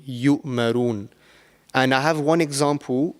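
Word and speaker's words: يَأْمُرُونَ: So sometimes what people tend to do is they tend to, mispronounce this, and they will pronounce the letter Ain and they will say yu'marun, which is wrong. It will change the whole meaning of the word. So over here it will be yu'marun.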